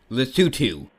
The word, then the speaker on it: Lesotho: Lesotho and It's pronounced Lesotho.